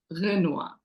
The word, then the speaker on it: Jena: name means um actually my name is pronounced Gena but I know the English version is Genoa you know unless you speak Arabic or French it would be hard for you to pronounce it properly so I'm used the